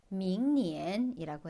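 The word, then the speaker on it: 明年: 내년은 밍니엔이라고 해요.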